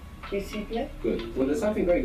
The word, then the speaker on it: visible: We're not pronouncing that S as a Z, like in English, visible. Many people at home will find themselves doing this, putting that Z there from English and pronouncing visible. We don't want that, we want visible.